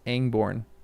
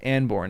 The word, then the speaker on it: Anborn: Why am I thinking that it's Angborn? Angborn. Angborn. Angborn. Tomato. Tomato. Angmar. I'm probably thinking of Angmar. Yeah, it's Anbornne, not angorn.